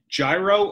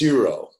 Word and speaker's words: gyro: What it looks like is gyro, but it's like the G isn't pronounced with the J. It's like more like an H, euro, or an H, euro.